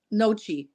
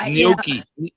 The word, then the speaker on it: gnocchi: I think the G is silent, but I'm not Italian. I wasn't sure if it was nachi. The first C was a hard C or not. It's gnocchi.